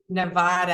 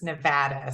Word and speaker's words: Nevada: to hear and I apologize if I said Nevada I know it's Nevada so I know that's a very particular uh thing for for Nevada so I want to make sure that I'm uh pronouncing that properly so um next week